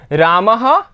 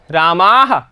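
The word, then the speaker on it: रामैः: रामेण रामाभ्याम रामैह तृतीया यहां पर देखना उच्चारण पे आप ध्यान देना रामईैह ठीक है रामे नहीं है आप बच्चों में से बहुत सारे बच्चे ऐसे गलत बोलते हैं रामे बोलते हैं तो वो नहीं बोलना है रामे यहां पर है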